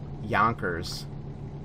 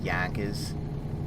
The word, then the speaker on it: Yonkers: You wouldn't know it's called Yonkers unless you were from there. I mean, you don't pronounce the R, for God's sakes.